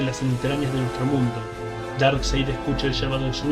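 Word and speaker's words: Darkseid: A pesar de que está escrito diferente, la pronunciación del nombre es idéntica a como se pronuncia el dado oscuro en inglés, porque eso es lo que Darkside representa, todo lo que es el lado oscuro de la naturaleza humana.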